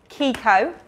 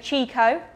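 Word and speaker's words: Chicco: do they say it so it's kiko oh yeah a lot of people say chico yeah but it's actually yeah there you go that's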